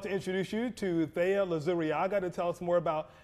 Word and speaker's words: Luzuriaga: And thank you for pronouncing the last name correctly, Lazuriaga.